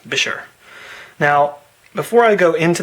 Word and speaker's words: Buescher: There's lots of different ways people pronounce that name. I say Buescher because I have seen an advertisement for them back in the day that said pronounced Buescher.